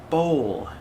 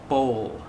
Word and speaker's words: bowl: kitchen is a bowl bowl bowl so the l is pronounced but very slightly on the end there yeah i think most